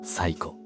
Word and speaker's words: 西湖: 西の湖と書いて、西湖でも西湖でもなく最湖。